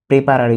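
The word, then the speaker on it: preparare: প্রেপারে অর্থে তৈরি করা সরি এখানে প্রেপারে উচ্চারণটা বাংলা উচ্চারণটা লেখা হয়নি এটা প্রেন্দের হয়ে গেছে এটা প্রেন্দের হবে না প্রেপারে হবে প্রেপারে অর্থ তৈরি করা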